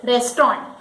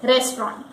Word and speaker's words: restaurant: The correct pronunciation is restaurant. Many people say it restaurant. Many people say it restaurant. And the correct pronunciation is restaurant.